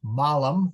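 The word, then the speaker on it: mālum: of Eden and how in Latin malam with a long a means apple or is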